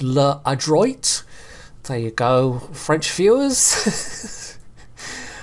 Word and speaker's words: L'Adroit: tier five French Destroyer leis which I'm probably saying slightly wrong I'm sure it's actually pronounced L adroit there you go French